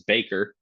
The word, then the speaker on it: Baker: last name Aisha uh my last name is Baker like uh like the bakery where you get your croissants and Hugo asks are